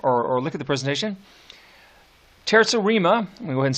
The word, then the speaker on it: terza rima: that we haven't talked about yet it's called terza rima so here we go being dead fleeing ABA